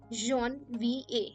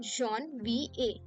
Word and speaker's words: Janvier: Janvier. How do we pronounce it? Janvier.